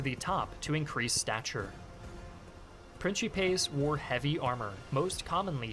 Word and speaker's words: principes: Note, interesting that he switched to ecclesiastical pronunciation and called them principes. It doesn't offend me. I mean, some people get really mad at it. I mean, they're both correct. It's just that, they wouldn't have said principes because it's too modern as a pronunciation, if you will. But it is the Italianate pronunciation, and being Italian, it